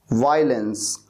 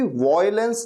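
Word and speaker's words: violence: वायलेंस, वायलेंस, इसे कभी भी वॉयलेंस नहीं कहना, वॉयलेंस नहीं बल्कि वायलेंस।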